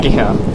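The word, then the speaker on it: Pākehā: Pakeha. Okay, yeah, Pakeha and Maori.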